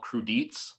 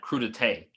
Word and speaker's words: crudité: a French dish, and we thought it was called crudites. Mm-hmm. And then we were watching something on TV, and some French person said crudité. I was like, oh, crudites? That's how you pronounce it, crudité?